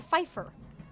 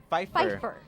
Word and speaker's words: Pfeffer: It's Quincy Pfeffer. Pfeffer. It's P not is silent. Pfeffer. The P is silent, so it's Quincy Pfeffer.